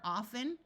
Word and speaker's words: often: disappears and fasten two other common words where the t is silent are often although in some parts of the US the t is pronounced and Christmas notice that